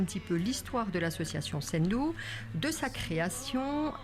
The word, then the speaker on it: Ssendu: Elle s'appelle Sendou, S-S-E-N-D-U, mais on prononce Sendou.